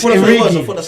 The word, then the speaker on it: Origi: He called him Origi. That's not his name now. It's Origi.